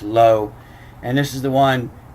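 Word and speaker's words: לא: this third line here this is uh this is lo la and is pronounced lo and this is the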